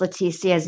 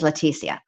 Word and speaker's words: Letecia: ago that I pronounced leticia's name different ways I'll say her the real way to say it is latia but everybody says it Leticia and so I constantly